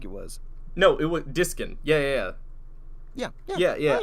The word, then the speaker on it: Diskin: did you think it was no it was diskin yeah yeah yeah yeah yeah i i didn't